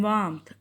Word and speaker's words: warmth: In warmth, R is silent.